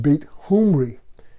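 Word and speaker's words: Beit Omri: the infamous King Ahab in one Northern Israelite dialect bait Omri was pronounced bait humri now keep in mind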